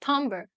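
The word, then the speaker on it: timbre: Fifth Element is tomber it looks like Timber but it's pronounced tomber and let's have a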